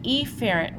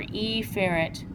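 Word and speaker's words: efferent: remind you we don't the pronunciation is an aerant or eerant but I am going to say it that way because apherrant and epherent sound dangerously close to each other.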